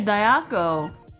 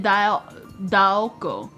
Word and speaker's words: Daoko: Why do you say Dayako? Say it Daoko.